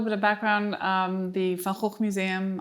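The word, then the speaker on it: Van Gogh: Um, the Falhawk Museum, I'll pronounce it in the Dutch way, um, is really the center of expertise on the artist in the world.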